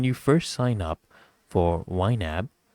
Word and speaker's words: YNAB: you what y NAB stands for it's actually pronounced wab and basically stands for you need a budget